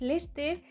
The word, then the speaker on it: Leicester: se dice greg knicks el leicester es lester y bueno una movida